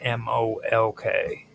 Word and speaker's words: Molk: The stele inscriptions of the Tophet often mention Molk, which is spelled M-O-L-K, or on the Toph, it's actually MLK, not MOLK. It's pronounced Molk, but on the Toph it shows as MLK.